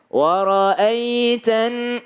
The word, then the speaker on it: وَرَأَيْتَ: Wara'aitan. Kalau ada ya sukun, sebelumnya ada fathah, bacanya ai, ye, ya, ai, bukan e. Jangan jadi bukan wara'aitan, salah kalau pakai e, wara'aitan nasa karena banyak orang ya.